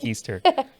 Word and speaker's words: Keister: Keister, just like the bum.